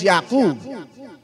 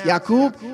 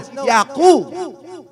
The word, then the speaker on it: Yaqub: He said, "Ma'am, my name is Yaqub." She tried to pronounce Yaqub. He says, "No, Yaqub." Corrected her pronunciation.